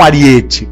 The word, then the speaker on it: aríete: a porta de castelo não é um aríete ó é proparoxítona aryadh neste nesse ínterim